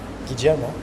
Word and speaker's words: Guillermo: Guillermo is, I learned that that's how you spell the name. Apparently, double L is pronounced J in Spanish. I didn't know that.